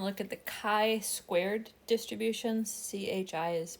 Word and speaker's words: chi: CHI is pronounced chi.